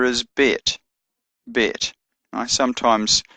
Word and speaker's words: Bet: Bet has a B sound, B as in boy, and the third letter, Gimel, has a G sound, G as in God.